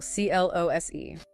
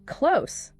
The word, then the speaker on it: close: Pronounced close with an s sound. Rhymes with dose or gross. We live close to the school. The deadline is close. Close.